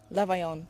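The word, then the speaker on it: Levaillant: Because he's a Frenchman. Levaillon. Levaillon, that's it. Get the right pronunciation.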